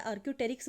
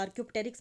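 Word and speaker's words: Archaeopteryx: या आर्क्योप्टेरिक्स या आर्क्योटेरिक्स बोलते हैं, या आर्क्योप्टेरिक्स बोल सकते हैं स्पेलिंग को याद रखने के लिए।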